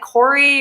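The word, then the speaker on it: Kore: r e is it Corey is that how you pronounce it yeah it's like Corey or core I think depending on who you're talking to um but yeah so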